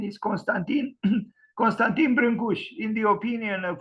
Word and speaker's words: Constantin Brâncuși: Romanian sculptor Constantine brush this is the Romanian pronunciation he is well known outside of the country as Constantine branzi people pronounce his name